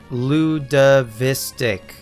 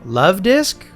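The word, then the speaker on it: Luvdisc: had a friend in middle school who uh pronounced it Lud Ludavistic. And it took me forever to figure out what Pokemon he was talking about. Ludavistic. Oh, Love Disc.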